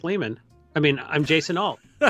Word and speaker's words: Lehmann: jason alts hey everybody i'm pretty sure it's pronounced lehman i mean i'm jason